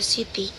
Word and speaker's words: city: And in the first syllable of the word city. City.